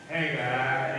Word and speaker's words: Haggai: Haggai, that's what the book is called, the book of Haggai, and he called himself the prophet. Amen. Haggai. When you look at that, the breakdown pronunciation is H-A-G-E-Y-E. In the pronunciation of that prophet name.